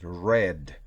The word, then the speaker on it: read: y participio pasado read aun cuando se escribe igual el pasado el participio pasado la pronunciación es red y como sello cuando